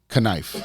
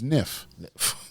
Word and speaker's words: knife: Knife. Right. That's how I pronounce it. Just take the K away. Right. But then if you do that, right, it's Nif.